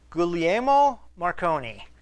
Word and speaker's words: Guglielmo Marconi: That's, I hope I can pronounce it correctly, Guglielmo Marconi. He's got a very Italian name.